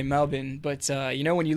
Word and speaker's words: Melbourne: to Adelaide and then I finally settled in Melbourne down in the down in the south and before anyone brings it up or before you ask me that it is pronounced Melbourne it's not Melbourne that's how that's how you